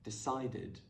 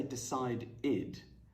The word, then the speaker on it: decided: add becomes added counted decided make sure you don't say decide id but you connect the